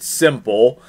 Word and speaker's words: s1mple: game s one mple it said you pronounce it simple um but uh this